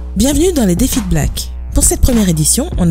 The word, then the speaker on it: Blaque: défi make-up pour le magazine Blake ça se prononce black et le magazine c'est